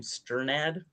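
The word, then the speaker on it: Strnad: Uh I don't how do you pronounce Jan's last name? Sternad. Sternad, uh, the writer, he ends up he ends up having sex with that frog, actually.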